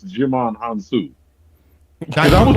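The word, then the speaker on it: Djimon Hounsou: But you out here, like, you taught me how to properly pronounce Jimon Hansu. Because I was like, Digimon Hansu?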